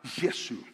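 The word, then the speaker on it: یسوع: Nadie se llama a Jesús y se pronuncia la palabra Yesu.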